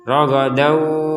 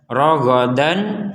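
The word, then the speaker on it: رغدا: Artinya jangan sampai kita baca dengan jelas. Kalau dibaca dengan jelas, ragadan wa dan wa dan wa itu dibaca dengan jelas. Nah, ini sekarang tanwinnya, fathatainnya dimasukkan ke huruf waw.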